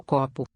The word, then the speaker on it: copo: So we have three letters O here. Note how they sound different. O copo. Copo. Where the tonic accent falls on that ko. That's a recognizable O. The other ones sound more like an oo.